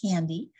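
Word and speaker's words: KNDy: And so this is pronounced as capital K, capital N, capital D-Y. It's a kispeptin neurokinin B dynorphin neuron complex in the brain, and we call it candy.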